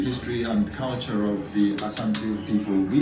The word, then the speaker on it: Asante: The British could not pronounce the name Asante, so they called it Ashanti.